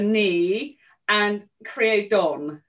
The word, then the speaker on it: Ní Chríodáin: you just told me it's me gotta remember me and create don is that right it's a knee creodon yeah